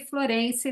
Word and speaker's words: Florence: nós do festival né optamos por usar essa pronúncia mais abrasileirada do nome do florence né então a gente costuma falar hér col Florense né e não usar eh a pronúncia francesa queria ressaltar né que